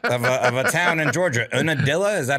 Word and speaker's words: Unadilla: Unadilla, is that how you pronounce it? Unadilla.